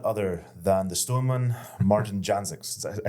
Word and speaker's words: Jancsics: today is none other than the Stoneman Martin janx I say that right Janis Janis my apologies the se's and the name are